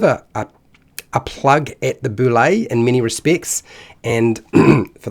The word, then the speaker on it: bulette: and today is the boulay now I know what you're thinking no it's the the bullet or the Bullet no actually the correct pronunciation is um is boulay because it's French and that's because a